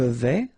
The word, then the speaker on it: vais: Je vais, final S not pronounced here, and remember when you combine this A and E together, you get the sound E, so really open.